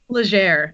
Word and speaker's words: Lazare: don't say it again Lazare it's like Legere except smoother that's fantastic so it's French